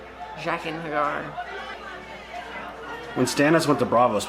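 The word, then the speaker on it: Jaqen H'ghar: But she knows Jagan Hagar. Did you just say it right? I don't think I said it right. Totally fuck up every time. That's a tough name. Jaqen Hagar.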